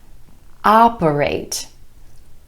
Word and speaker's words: operate: Take this word, operate, operate. 3 syllables with emphasis on the first syllable and the vowel sound ah, operate.